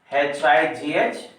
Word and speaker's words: high: Here HIGH, ALMS, next RIGHT, PALM. So please pronounce this word high, HIGH. In this word, the silent words are GH.